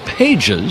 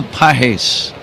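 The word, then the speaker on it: Pagés: Pahes will take a strike. His last name looks like you might say pages.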